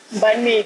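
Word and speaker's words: Bánh mì: I don't actually know how to I also don't know how to pronounce pronounce it. Bahn Mi? Bahn Mi, correct.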